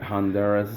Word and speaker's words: Honduras: Look, I say Honduras. I say Honduras. Is that the correct way to say it, or am I just a prick? No, that's how you say it.